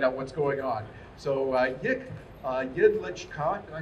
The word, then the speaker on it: Jedlička: So, Jedlička, did I say that right? Yes. Jedlička? Jedlička.